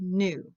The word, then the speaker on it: knew: don't forget what you knew okay so that one sounds a little funny because it should be don't forget what you know but it's changed so that new rhymes with two okay better knowledge is